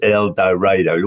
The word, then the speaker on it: El Dorado: It's pronounced El Dorado.